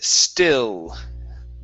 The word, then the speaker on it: still: Next up is, okay, the word still. Okay, instead of saying stew with an oo sound, give me an L. Still.